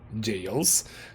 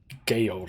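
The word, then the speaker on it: gaol: I didn't actually know that you pronounced it jail. I said Gale, I think, but it's jail. It's basically just the old spelling for... It's the old spelling for jail, basically.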